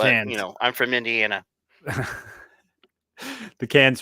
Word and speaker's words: Cannes: I've always said cans, but Cannes.